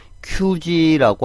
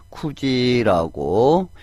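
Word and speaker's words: くじ: 자, 우리가 9시 할 때 조심을 해줘야 되죠. 큐지라고 하시면 안 됩니다. 또 쿠지라고 발음을 해주셔야 됩니다. 큐지라는 말은 없습니다.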